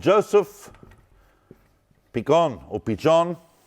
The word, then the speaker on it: Pichon: me, I've tried, but I don't exactly know how that was pronounced in medieval Castilian. But anyone know how that would be pronounced in Spanish today? P-I-C-H-O-N. Is it Pichon? Is it Pichon? Huh? I think it's Pichon. We'll go with Pichon because it's got a